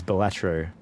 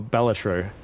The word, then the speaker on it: Balatro: My Steam Deck game is Balatro. Or Balatro, as it's supposed to be pronounced.